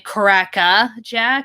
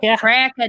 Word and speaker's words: Cracker Jack: the role um but the script kept saying cracka jack because australians don't really use their r's as much yeah cricket cracker jack and i'm just like americans pronounce it cracker yeah um and there